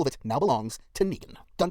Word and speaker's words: Negan: It's pronounced Megan. Now we know it's Negan.